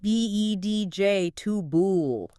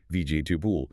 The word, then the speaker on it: vegetable: V E DJ Tool. Three syllables. Exactly. And in a faster, more casual speech, it might even sound closer to VJ Tubul. This kind of vowel reduction and syllable compression is super common in spoken English.